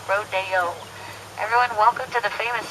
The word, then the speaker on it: Rodeo: Drive in Beverly Hills so now here on America it's called Rodeo whenever you spell it out but only in Beverly Hills do we call it rodo everyone welcome to the